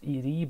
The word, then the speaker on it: ed: I'm sorry for pronouncing this add. Like I said, I know it should be pronounced as ED, but I like pronouncing this as add.